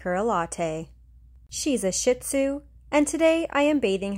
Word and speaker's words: Shih Tzu: They originated in Tibet, and the correct pronunciation of their name is Shih Tzu, which translates to little lion in Mandarin.